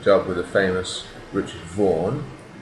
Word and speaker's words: Vaughan: So I took a job with the famous Richard Vaughan. Note the pronunciation, you Spanish people. Vaughan, not Baufan.